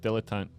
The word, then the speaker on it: dilettante: It's pronounced dilettante.